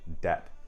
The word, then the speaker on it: debt: For example, a word like debt in English is spelled with a B.